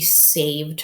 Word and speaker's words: save: A, I hear a long A. Save. Save. So it is a silent E syllable to give us the long A sound.